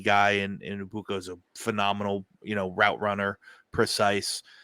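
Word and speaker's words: Egbuka: And it's Ibuka. The G is silent. It's Ibuka. Emeka Buka.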